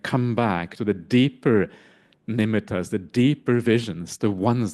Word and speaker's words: nimitta: just briefly mention that the word nimita we often say nimita but really it's nimita is the proper pronunciation You know that.